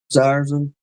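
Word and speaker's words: Dzierzon: Hey, Mr. Dan said you're pronouncing it correctly. Ziersen? I guess so.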